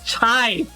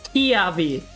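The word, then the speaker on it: Chiave: chive it's not try when i first saw c-h-i-a-v-e i pronounced it as chai that was like the very first time when i saw him and i did that for like two months until i realized it's kiavi don't tell me saga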